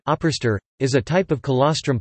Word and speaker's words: Ábrystir: Ábrystir (Icelandic pronunciation: Ábrystir) is a type of colostrum pudding consumed in Iceland.